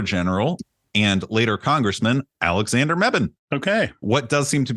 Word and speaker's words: Mebane: This is another community win out of the town of Mebane, North Carolina. Oh, okay. I think I know what we're going to talk about. Fun fact, the town of Mebane is located in both Orange and, pronounced it